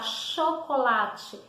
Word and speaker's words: chocolate: Vamos lá, chocolate. Eu pronuncio o H. Não. O som do C com H, eu tive o som da letra X. Chocolate, chuva. Viu a diferença?